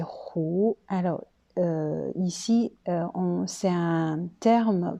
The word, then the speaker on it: 和: Quatrième prononciation, c'est deuxième don, 胡. Alors, c'est 胡.